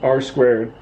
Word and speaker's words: R²: That's R squared. We type it R2, but we pronounce it R squared.